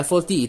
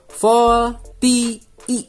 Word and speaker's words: VoLTE: VoLTE dibacanya ya, VoLTE teman-teman, bukan VoLTE ya, VoLTE.